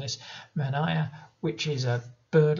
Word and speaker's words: Manaia: This creature again, apologies for anyone Maori for mispronouncing this, Manaia, which is a bird like creature sometimes with